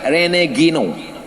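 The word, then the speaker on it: René Guénon: Tulis di situ Rene Guénon. R-E-N-E-G-O-E-N-O-N. Rene Guénon. Cara membacanya Rene Guénon.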